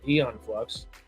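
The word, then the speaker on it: Æon Flux: The a is silent, I guess.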